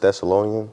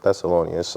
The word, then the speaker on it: Thessalonians: I think it's uh First Thessalonian. I think that's how you say it. Yeah, it's First Thessalonians.